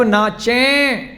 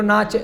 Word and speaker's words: नाचें: अगर लिखा है हम सब नाचें, बोलो नाचे, उच्चारण करो, नाचें, उच्चारण करो, नाचें, नाक से आवाज आनी चाहिए, नाचें।